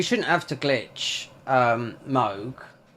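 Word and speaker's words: Mohg: have to glitch um Moog or if in America MOG no it's MOG okay he's got H in there unless unless you're Spanish how would you call him cuz I don't pronounce hes mo mo thank God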